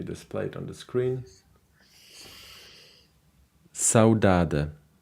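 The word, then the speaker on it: saudade: it on the screen saudada actually with the the Portuguese pronunciation by the way this is a Portuguese word okay would be from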